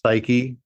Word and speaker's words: psyche: one being psyche uh not at all spelled like you would think but pronounced psyche and this is meaning